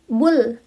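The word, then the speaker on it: 불: Kalau di akhir kata enggak ada huruf lain itu dibacanya L. L. Contohnya yaitu bul. Bul. B U L. Nah, realnya itu kan di akhir enggak ada huruf selanjutnya lagi. Itu dibacanya L. Bul.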